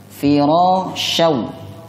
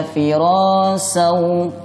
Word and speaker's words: firashan: Kemudian firashau shin ini memiliki sifat tafasyi. Ada hembusan napas yang kasar saat pengucapannya. Firashau. Kalau dibaca firasau salah, atau dibaca firasau salah, atau dibaca firazau juga salah. Yang tepat firashau.